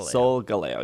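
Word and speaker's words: Solgaleo: guru and then it's it's so galileo because it's supposed to rhyme with s galileo soul galileo yeah yeah that one i can never remember okay now ryan with galileo soul for sun leo for lion soul galleo yeah but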